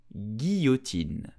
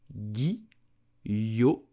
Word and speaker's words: guillotine: You will simply say guillotine. Guillotine. Guillotine. Here the complicated thing is the double L with the O. You will pronounce it yo. So guillotine.